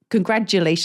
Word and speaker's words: congratulations: to be but I always say congrat you congratulations like a d congratulations but it's congratulations little